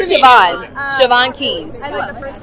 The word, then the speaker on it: Siobhan: Siobhan Keys. It's funny because her name is spelled S-I-O-B-A-H-N or B-H-A-N, but it's Siobhan with a V.